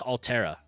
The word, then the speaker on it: Altera: It's pronounced Altera. Oh, Altera. Okay, kind of like the Terra for the other game.